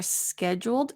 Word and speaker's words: scheduled: scheduled time good and notice for scheduled that's usually a difficult word the D sounds like a j j SK like jewelry jeweled okay good